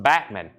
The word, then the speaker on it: Bachman: by Randy Bachman or as I think he prefers his name to be pronounced Bachman I've always said Bachman Bachman Turner overdrive but